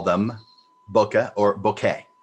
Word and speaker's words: bokeh: meaning fuzzy or blurry and it is bokeh that is the proper way to say it as far as my understanding but i do know a lot of people say boka and so either way it's fine uh it's it